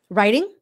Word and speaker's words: writing: You say it with the D sound, not the T sound, which is very American.